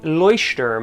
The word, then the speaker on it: Leuchtturm: really liked the leuchtturm now that i could pronounce it properly the leuchtturm at 1917 official bullet journal i like the